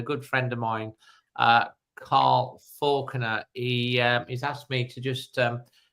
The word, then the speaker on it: Falconer: Carl either on Facebook, Carl Faulkner, which is spelled Falconer, or he's on Twitter X as Cosley Wolf, or as Instagram again on Carl Faulkner.